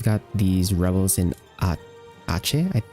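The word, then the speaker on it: Aceh: So, first off, we've got these rebels in a Ace. I I believe it's pronounced Ache.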